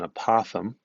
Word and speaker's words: apothem: definition it's new and that's called an apothem that's not me at mispronouncing it it's called an opossum and apothem is a